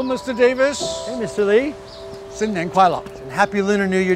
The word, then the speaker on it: 新年快乐: 新年快乐. 新年快乐.